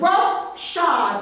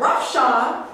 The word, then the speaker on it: roughshod: i'm saying it wrong it says rough shot but it's together and i said roughshod that says that russia